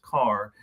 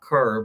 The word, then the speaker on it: Carr: sophomore Marcus Carr and it is pronounced Carr I'm not Kerr but um he had